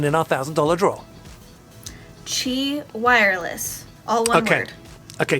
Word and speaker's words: Qi: entries to win in our thousand dollar draw chi wireless okay okay chi wireless we better spell that because it's pronounced qi but it is